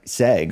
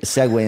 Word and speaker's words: segue: on Facebook live and I kept saying like sag or seg you or something and then I like weird text me we're texting back and forth and he like you know phonetically spelled it out so that was a